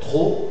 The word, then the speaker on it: trop: bas de des explications c'est l'adverbe trop trop de Marcial dans une normalement la prononciation c'est au fermé trop trop mais dans une position à tonne et c'està-dire suivi d'un adjectif ou d'un adverbe on prononce Auvert hein alors je mange